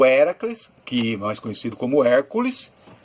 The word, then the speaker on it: Hércules: Hércules Aliás a palavra Hércules o nome Hércules não era assim que era pronunciado na verdade héracles Hércules é seria o